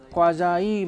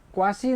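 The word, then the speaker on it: quasi: और आधा कौन सा है, इसे अंग्रेजी क्या मानती है, आधा मॉडल, जिसका नाम क्या दिया हुआ है, क्वाजाई मॉडल। तो ये क्वासी नहीं है, क्या है, क्वाजाई।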